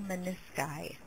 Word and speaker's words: menisci: word ends in US, change the US to I, pronounced as a long I. This patient was diagnosed as having torn both her medial and lateral menisci.